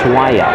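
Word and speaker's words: Swaja: good pressure by reese bell has the ball moves it over the line to swaya i was corrected on my pronunciation it's swaya and that's suaje yes w-a-j-a from the right corner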